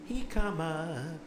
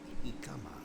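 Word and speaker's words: jicama: Hikama, Hikama, Hikama. J-I-C-A-M-A. In Spanish, the J is pronounced like a ha, ha, and the I is an I-kama, Hikama.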